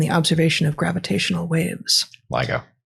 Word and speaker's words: LIGO: decisive contributions to the lego detector and the observation of gravitational waves ligo ligo ligo detector i probably mispronounced the earlier acronym ceo actually as well